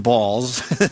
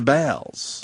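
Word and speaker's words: Baals: real Harry ball BS who indeed pronounced his name balls of course right here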